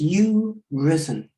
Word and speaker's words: Urizen: So we've reached the end of the evening, and you did ask, how does one pronounce Urizen? And to be perverse, I think it is you-risen.